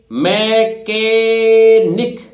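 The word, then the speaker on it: mechanic: क्या बोलते हैं काओस इस तरह देखिए पढ़िए मैकेनिक एम से मे केनिक ए साइलेंट है a person who repairs in maintenance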